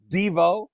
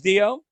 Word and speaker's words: Dio: so far number five Ronnie James Devo as you first pronounced Ronnie James Dio uh replacing Ozzy Bond